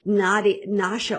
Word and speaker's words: Nasya: I also found dry skin brushing and oil pulling and dry tongue scraping, Nasha oil. I just bought a new bottle of it, and that's spelled Nasya.